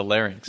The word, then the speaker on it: larynx: learn learn like lynx but a larynx.